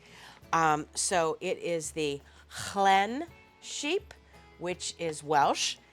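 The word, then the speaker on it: Lleyn: it's very exciting um so it is the Clen sheep which is Welsh it's actually spelled l e y n but it's pronounced Clen as best I can determine from um some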